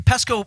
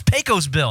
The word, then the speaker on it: Pecos Bill: pretty legit i uh it was a pesky pesco oh no pesco bill that's crypto pesco pete pecos no it's pecos bill i'm mispronouncing it peco's bill because he was like